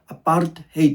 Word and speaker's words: apartheid: It's an African word that is pronounced apartheid.